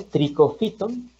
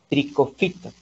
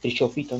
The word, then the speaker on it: Trichophyton: Está el género Trichophyton, ¿sí? Esta sílaba PHY se pronuncia como F, ¿no? Trichophyton. Recuerden que esta sílaba, CHO, no se pronuncia como cho, ¿no? Trichofito, no, se pronuncia como tricofito, Escherichia, pseudoalescheria, ajá.